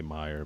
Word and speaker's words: Mayer: Yeah, I think they say Meyer, but it's spelled like Mayer.